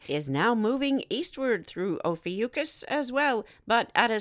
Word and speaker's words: Ophiuchus: front of the constellation Ophiuchus or some say o fiocchis and let's spell it it's OPH i uch us as always the moon